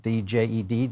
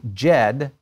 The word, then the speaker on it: Djed: I think that's the way you pronounce it, D-J-E-D, Djed.